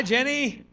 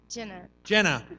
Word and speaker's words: Jenna: Hi, Jenny. Come on over. Jenny. How do you say your name right? Jenna. Okay, I'm sorry. It's got Jenna. an A.